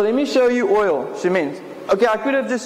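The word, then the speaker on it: שמן: So oil, Shemin. So oil is Shemin, and it's spelled Shin Mem Nun.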